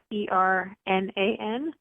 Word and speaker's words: Heffernan: A lot of people get my last name wrong, but it's Hefffernan, not MAN. And I am almost always on social media.